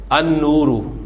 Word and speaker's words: النور: النور, تو آپ کا نون جو ہے یہ شمسی حرف.